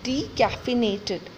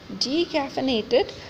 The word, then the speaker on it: decaffeinated: Next is decaffeinated. Decaffeinated, again, maybe because of pronunciation, we write it wrong. We write it DECAFFINATED. That's wrong. The correct one is DECAFE, caffeinated. So it is DECAFFEINATED, decaffeinated.